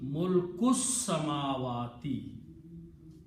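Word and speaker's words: ملك السماوات: But when you read together, this kaf will combine with seen, and this alif will not be pronounced. So it will become mulkus samawati.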